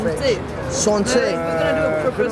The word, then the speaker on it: santé: How do you say cheers in Santé. French? Santé. We're gonna do a proper santé. How? So you gotta look in the eye. Look in the eye. Already. Like that. Santé, like that.